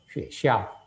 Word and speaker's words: 学校: Maka kalau sebacanya tirukan semua supaya ada yang nggak salah ya. 学校 sekolahan artinya ini tempat ya, keterangan tempat.